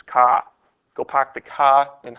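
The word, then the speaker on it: CAH: Okay, cosine is adjacent over hypotenuse, otherwise known as ka. Okay, you know, that's car if you're in Boston, but we pronounce it as ka.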